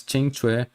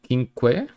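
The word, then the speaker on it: Qingque: Kinke as Kinke and started calling her as Chingchue, the character that is close to Fushuan.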